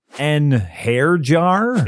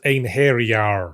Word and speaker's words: einherjar: and those are just the ones I can pronounce an hair jar it's pronounced an haar say tires it's satas okay I think I